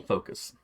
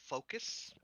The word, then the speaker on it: Phokas: PHO. KAS. KAS. It's probably pronounced more like Phokas or something, but yeah.